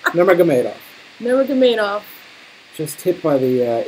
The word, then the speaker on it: Nurmagomedov: Spell, how do you pronounce his name? Nurmagomedov. Close. And how about his first name? Khabib. No. Khabib. Nurmagomedov.